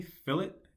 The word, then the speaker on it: fillet: good practice to create fillets fillets are very common once again fill it to our rounds make sure you pronounce it correctly fill it not fillet right it's filling all right